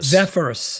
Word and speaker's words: Zephyrus: it is an Rog lineup yeah but Rog zephrus zephrus that's it uh 14 and 16 and I